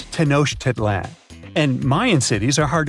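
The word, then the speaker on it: Tenochtitlan: It's tenoshedlan. And Mayan cities are hard to pronounce too.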